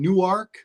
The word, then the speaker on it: Newark: Delaware I am in Newark which is pronounced new ark correctly and Larry is in